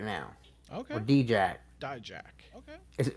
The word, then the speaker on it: Dijak: Or D-Jack. Dijak. Okay. How do you pronounce it? Dijak.